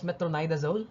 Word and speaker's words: metronidazole: medvik so that's metronida uh metronidazole actually it's pronounced metronidazole ethromycin disulfide acid uh isonitis now class remember